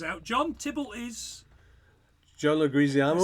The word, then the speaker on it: Leguizamo: Apparently, it's pronounced. I was disappointed to find out. Leguizamo.